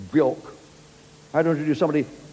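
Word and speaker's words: Björk: Pop stars are called Sade, who want to pronounce Sade, and Bjork, who want it Bjork.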